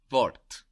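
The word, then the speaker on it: Wort: for for example the word is d vort d vort w o r t and we make this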